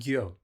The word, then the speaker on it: Gyo: Master Wing said it and he said Gyo. So I think I'm saying it right.